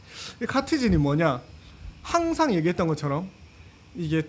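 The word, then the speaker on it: Catizen: 하고 있어요 잠시만요 이건데 읽을 때 CA 읽을 때 카티즌이라고 얘기합니다 카티즌이라고 읽는데이 카티즌 뭐냐 항상 얘기했던 것처럼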